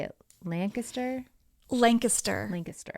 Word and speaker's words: Lancaster: grows up in and I know it's not Lancaster how do you say it Lancaster Lancaster Lancaster it's strange that you don't pronounce it how would you not Lancaster Lancaster